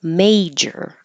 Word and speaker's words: major: which is different than major you need the vowel a as in hey and you need to stop the air flow for the J